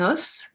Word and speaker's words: os: Be careful for this one, this is an irregular pronunciation. Because it's un os, but when it's plural, it's going to be des os. Un os, des os.